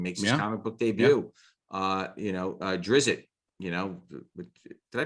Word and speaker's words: Drizzt: Drizzt, did I pronounce that right? Drizzt.